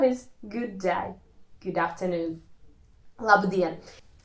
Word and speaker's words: labdien: Labdien. In such words, the stress is on the second syllable.